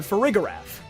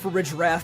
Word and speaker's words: Farigiraf: Pokemon, so think about Hisuian Zoroark, Indeedee and Farigiraf. Yeah, I know it’s probably supposed to be pronounced Farigiraf, but I think this way sounds more fun.